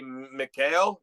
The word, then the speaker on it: Mikhail: So it's the guy who shot the guy is, I would say, Mikhail. It's Mikhail.